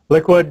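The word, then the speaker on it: LIQUi|⟩: information on liquid which they might look at it and not know that it's pronounced liquid because it's got some funny characters in it but that liquid is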